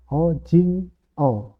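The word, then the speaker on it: 오징어: Eng contoh berikutnya o huruf o biasa dia tidak dilafalkan ya bukan jadi ngo gitu bukan tapi tetap o lalu j i dan Eng o jing O ojingo itu artinya cumi-cumi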